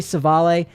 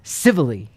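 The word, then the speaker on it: Civale: tie on and then Aaron civilly didn't know until last night because I thought that's Italian it's probably savale queen of baseball reference is pronounced civilly interesting so that one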